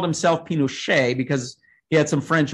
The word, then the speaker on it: Pinochet: overthrown and uh augusto pinochet um who whose name is pronounced in french even though he was even though he was